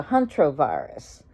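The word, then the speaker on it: hantavirus: I think that's the Hunter virus, and it's pronounced the Huntrovirus.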